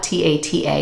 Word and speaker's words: Tata: is Tata like Tata t-a-t-a it's Italian but we pronounce it tada but the real Italian pronunciation is Tata it's been Americanized through